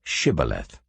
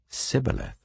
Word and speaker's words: shibboleth: they said all right say shibboleth if he said sibileth because he could not pronounce the word correctly They seized him and